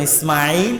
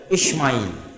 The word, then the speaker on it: ইসমাইল: আসসালামের একজন সন্তান ইসমাইল মোটা করে আমরা যেটা শুদ্ধ উচ্চারণ ইসমাইল এইভাবে না করে তাদের কিতাবে ইসমাইল এরকম এস এইচ দিয়ে বড় করে লেখা আছে ইসমাইল তার একজন সন্তান আচ্ছা